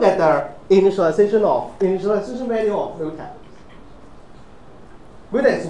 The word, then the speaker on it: mutex: Okay, oh, this is pronounced as mutex, M-U-T-E-X mutex.